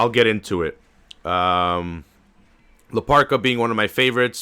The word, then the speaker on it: La Park: Or in Mex, it's spelled La Park with a capital K, but in Spanish you say it Ka, so it's La Parka.